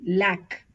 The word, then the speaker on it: lac: of these consonants for example l a c lack we pronounce the C here ail we pronounce the